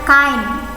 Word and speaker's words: kind: yang nomor satu tulisannya kind of job bacanya kayne of Jobs cayn jadi tulisannya kaki endek in itu bacanya kain jenis pekerjaan yang kini